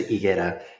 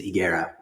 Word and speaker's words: Higuera: So in Spanish is Higuera, and English pronunciation is Higuera. So the H and the U is silent.